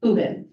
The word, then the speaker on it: Huben: And I'm very happy that I finally get to introduce myself to everybody and tell you that that is how you say my last name, Uben.